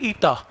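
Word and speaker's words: eta: और next quantity का नाम है कोफिशिएंट ऑफ विस्कोसिटी, बहुत यूज होती है, इसका सिंबल है ईटा, इस सिंबल को प्रोनाउंस करते हैं ईटा, अल्फा बीटा गामा डेल्टा ईटा।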